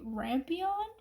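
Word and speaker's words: Rampion: the fairy tale called a rampon is how I would pronounce it r a m p i o n and that's the classification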